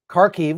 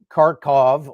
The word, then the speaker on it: Kharkiv: Kharkiv was called Kharkov, et cetera, et cetera.